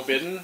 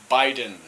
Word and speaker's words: Biden: think milani is calling me to drill joe bidden yeah that's not how you pronounce his name how you pronounce his name biden biden joe biden not biden and we're gonna